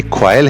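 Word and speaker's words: quail: ये क्वाइल है और ये मैंने प्रोनाउंसिएशन इसका लिखा है KWAYL, किसका प्रोनाउंसिएशन बनेगा।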